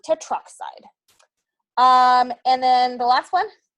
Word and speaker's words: tetroxide: Take out that extra vowel so it sounds nice and smooth. Tetroxide.